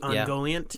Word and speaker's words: Ungoliant: Ungoliant.